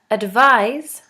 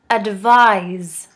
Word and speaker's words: advise: as an S advise advise with an S is pronounced as a Z advise advice advice is a